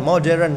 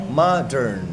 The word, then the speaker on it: modern: Bacanya modern itu bukan modern, no. Modern. 2 kali ngomongnya modern.